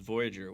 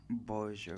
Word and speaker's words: Voyageur: started a whole new How do you pronounce that? Because Voyageur. Voyageur. So I wanted to do really French.